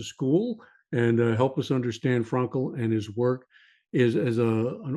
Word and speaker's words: Frankl: I'm very careful of my pronunciations. So Frankl is I think the way it is pronounced.